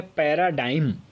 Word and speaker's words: paradigm: Pronunciation ध्यान से देखेंगे, इसका प्रोनाउंसिएशन है पैराडाइम।